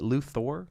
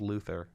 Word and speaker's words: Luthor: Is it Luthor? Luthor, yeah, I thought it was Luther.